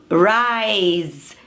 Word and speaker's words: rise: E o verbo to rise tem esse sonzinho de z, não é to rise.